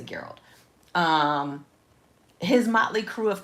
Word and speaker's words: Geralt: Is it Geralt or Gerald? I think it's Geralt. I think it's Geralt of Rivia. So, I'm just going to say Geralt.